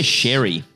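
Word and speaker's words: Ceri: How do you say this name? C-E-R-I. How would you say that? I would say Sherry.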